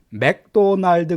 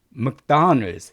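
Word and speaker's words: McDonald's: 발음 하셔야 되냐며 든요 맥도날드 그러시면 안되요 맥도날드가 아니라 제가 또 적어놨습니다 먹 당한 을 쓰 먹다 늘 이게 맥 보다는 무게가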